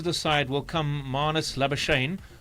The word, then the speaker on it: Labuschagne: So now into the side will come Marnus Labuschagne, or if you want to be very correct, you pronounce his surname Labuschagne.